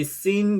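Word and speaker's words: سين: 이 seen 경우에는 발음이 S 발음하고 같습니다. 우리나라 시옷하고 쌍시옷 발음 유사하게. 그래서 seen, 영어의 S 발음하고 비슷하다.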